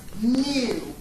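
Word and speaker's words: μ: okay our symbol for our population mean we pronounce this symbol as mu what is that it's basically you guys your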